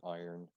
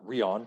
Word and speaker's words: iron: as well f e iron iron not rion with rion i know i know